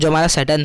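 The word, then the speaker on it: Tsering: The next morning क्या होता है, सैटर्न टुक द ऑथर, इस सैटर्न है ना वो टी साइलेंट है, याद रखना, ठीक है।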